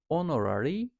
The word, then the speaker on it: honorary: A ile başladığı için honorary degree yani o ile başlıyor burada H okunmadığı için NP yukarıda bahsettiğimiz gibi E ile başlıyor burada an ss officer E ile başlıyor.